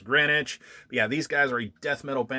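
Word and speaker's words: Greenwitch: existence which you know this is actually spelled green witch but it's pronounced grenwich we have these guys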